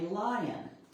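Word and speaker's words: Lyon: So the one after Fanny Butts was Fanny Lion and her name is spelled L Y O N.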